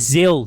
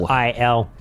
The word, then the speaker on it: Xil: Mine was Zil, just for anyone wondering. That's Xil. X-I-L.